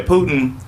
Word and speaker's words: Putin: That's not how you say Putin. I'm saying Putin wrong. No, you saying it right.